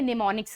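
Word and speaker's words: mnemonics: हम लोग बात करेंगे निमोनिक्स की निमोनिक की सबसे पहले तो स्पेलिंग आपको पता होगी यहां पर हमारा जो एम होता है वो क्या होता है साइलेंट होता है ठीक है अब इसमें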